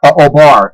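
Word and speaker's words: O'Bar: you said like or something o'hara oh bar it's spelled o and then it's got that uh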